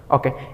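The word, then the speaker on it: ㅗ: ওকে, এরপরে আমরা যেটা দেখতে পাচ্ছি সেটা হচ্ছে একটা আনুভূমিক দাগ, তার উপরের দিকে আরেকটা দাগ, ঠিক উল্টো টি এর মতো, তাই না?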